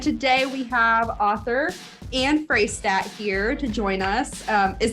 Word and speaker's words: Fraistat: and Samantha, and today we have author and Fraistat here to join us. Is that how? Am I saying your last name correctly? Fraistat.